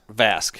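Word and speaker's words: Vasque: How do you pronounce that brand again? Vask? Vask.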